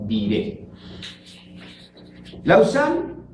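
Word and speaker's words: Lausanne: traducirlo sería perros diré se escribe vive con benchikha y se pronuncia vive la usan es un lugar situado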